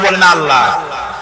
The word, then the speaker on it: আল্লাহ: নিশ্চয়ই মনে আছে আল্লাহ এই উচ্চারণটা আমাদের অনেকের হয় না কেউ বলে না আল্লাহ আল্লাহ পাকের উচ্চারণটা হচ্ছে আল্লাহ পাকের নাম হচ্ছে আল্লাহ মুখটা